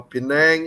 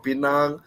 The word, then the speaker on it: Pinang: called pulau pinang right pilar penang or pinang all depends on how you pronounce it so cindy can